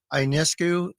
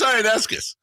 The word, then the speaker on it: Ionescu: I posted, or I'm about to post, a Sabrina Ionescu. Ionescus. Ionescus? Ionescus. There's no S at the end.